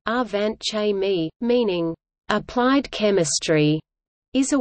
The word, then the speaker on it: Angewandte Chemie: Angewandte Chemie, German pronunciation, Angewandte Chemie, meaning applied chemistry, is a weekly peer-reviewed scientific